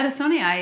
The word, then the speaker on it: adansonii: I have a Monstera adansonii. Did I pronounce that right? Yeah, adansonii, yeah.